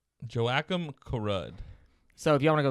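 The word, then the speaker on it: Joakim Karud: Rock Angel, how do you pronounce that name? Joachim Karud.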